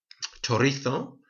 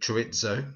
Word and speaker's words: chorizo: Chorizo, the spicy sausage. Lots of people in England call it chorizo, but it's pronounced chorizo or chorizo if you're in the south of Spain.